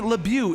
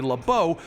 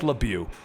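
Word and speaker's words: LeBeau: normally only in print sometimes we can't even pronounce the first names well I'm going to State it right now Remy lebu is what we will be calling him in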